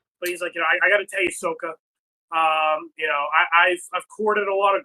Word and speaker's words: Sokka: It says in the dialogue between Fuckboy and Sokka, Han pronounces Sokka's name incorrectly by elongating the O, which is the Asian pronunciation, and how it is pronounced in the film The Last Airbender, which is pretty funny